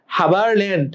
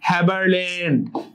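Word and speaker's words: Haberlandt: হাবারল্যান্ড নামটা শুনে হাবার মনে হতে পারে, হাবা, বাট হ্যাবারল্যান্ড।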